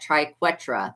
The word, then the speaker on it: triquetra: Triquetra.